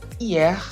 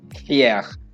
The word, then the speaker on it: hier: Hier. Remember, H is always in French it's silent. So hier, not here.